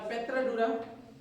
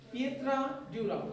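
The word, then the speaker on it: pietra dura: तो ये आपकी पच्चीकारी, परचिनकारी या पेट्राडूरा, पिएत्राडूरा, ठीक है ना। पिएत्राडूरा कई तरीके से इसको प्रोनाउंसिएट किया जाता है, देखिएगा, ठीक है ना।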